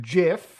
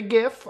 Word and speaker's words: GIF: one GIF okay yes I pronounce it Jif alright some people say GIF I get it let's